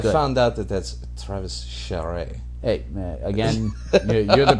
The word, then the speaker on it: Charest: I found out that that's Travis Charest. Hey, again, you're the pronunciation guide guy.